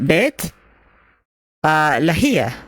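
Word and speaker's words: Beit Lahia: Oh, actually, let me see how it's pronounced. Spelled here. Bet Lahia. Bet Lahia. Beit Laia.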